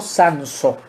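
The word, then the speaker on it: Sansó: Esta antología la organizó un arabista de la Universidad de Barcelona llamado Julio Sanso, con acento en la O.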